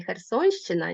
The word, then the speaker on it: Херсонщина: кажуть момент що вимовляється у слові херсонщина нівмиваляється м'яко але м'якого знака немає бо за правилами Так є